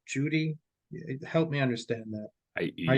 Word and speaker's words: Cudi: And I believe that our Muslim counterparts have it right, in that it was indeed Mount Judi or Mount Cudi, Cudi, but it's pronounced Judy.